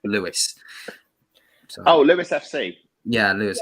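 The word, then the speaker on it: Lewes: i lose in what i say lose but everything apparently pronounced lewis oh louis fc yeah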